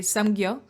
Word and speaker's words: 삼켜: because she's supposed to say samgyo, and she's samgyo. A little bit of a light K.